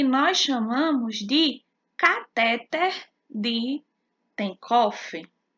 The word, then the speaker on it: Tenckhoff: chamamos de cateter de tenckhoff cateter que se escreve thank Hoff o cateter de tenckhoff